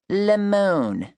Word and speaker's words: Lamone: My name is Lamone, pronounced Lemon, like you would if you were in France, not like the sour yellow fruit.